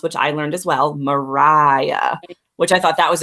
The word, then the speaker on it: Maria: bubble yep little baby Mariah with which is great what'd you put in the pronunciation because it's spelled in a way that most of us would traditionally say Maria that's Renee RI a